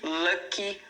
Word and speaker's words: lucky: Você realmente pronuncia esse I no final, tá? Então, fica o exemplo aqui do luck, que é uma sílaba, e lucky, que são duas sílabas.